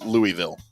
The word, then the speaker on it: Louisville: Is it Louisville or Louisville? feel like I've been saying Louisville because here in close to Dallas we have a suburb called Lewisville but it's spelled differently but I hear people from there say Louisville and I gag a little bit when I say it like they say Louisville. I'm not saying it like that anymore. It's Louisville.